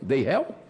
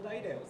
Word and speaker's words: Dairel: Acertei? Deirel? Não, me diga como é que se pronuncia. Eu falo Dairel. Dairel, então vou falar Dairel.